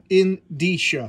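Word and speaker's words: indicia: of the first page is the edisha pronounced in disha so I've been saying it right that's good copy which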